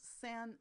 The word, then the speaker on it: sans: Sans serif, sans, and by the way we don't pronounce the S, is French for without.